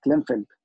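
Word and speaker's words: Klinefelter: قال والله الميل ان يكون عنده كونجنتال ديزيز، مرض اسمه كلينفلتر او بيسموه كلاين، هو بيتنطق كده كلينفلتر.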